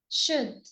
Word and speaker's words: should: The L is silent in would, could, and should. Could would should could.